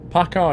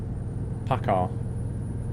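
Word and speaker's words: PACCAR: like you're going well Paka is spelled p a c c a r Paka they're the company that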